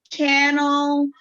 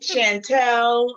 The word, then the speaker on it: Chantelle: up at school because teachers never knew how to say my name was either channel or chanel i'm like yeah channel i've had someone call me channel on on stage i'm like no that's not my name chantelle i'm like that's not